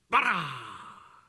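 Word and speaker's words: ברא: 그래서이 바라도 강하게 빠라 이렇게 발음을 해야 하는 거죠.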